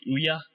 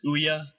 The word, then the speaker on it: Ouya: for now at least, I'll say the Ouya, which is basically booyah without the B, which is, I think, how even the people who are designing this machine are saying how it should be pronounced.